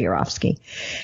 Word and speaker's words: Yourofsky: And you spell his last name Y-O-U-R, your, and then O-F of Sky, S-K-Y, Gary Yor of Sky, but it's pronounced Gary Yourofsky.